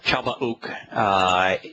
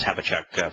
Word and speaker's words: Habakkuk: And what is when Yahowah and Chalbauk, which it means embrace this, Habakkuk, for those that prefer the more Anglican pronunciation, what is the comment